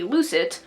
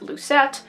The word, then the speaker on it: lucet: ball of yarn and also a lucit i've also heard this pronounced as lucette so you can use whichever pronunciation you would like to use so let's go ahead